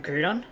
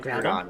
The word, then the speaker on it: Groudon: Like when we're doing the Aqua vers Magma, um, I call it um, Grudon, even though others call it Groudon. Yeah, Groudon.